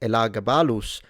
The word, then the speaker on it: Elagabalus: But in Latin, the A is indeed long. So pronouncing it Elagabalus with a long elongated A is respecting classical Latin phonemic vowel length.